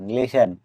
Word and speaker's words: listen: LISTEN লিসেন অর্থ শোনা। এখানেও টি লেটারটি সাইলেন্ট থাকবে কারণ টি এর আগে এস লেটার আছে।